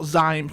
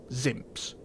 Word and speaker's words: Zympzz: So Zympzz is pronounced Zympzz. It's spelled Zympzz, and it's pronounced Zympzz. Not Zympzz, not Zympzz, Zympzz. Simple, one word, Zympzz.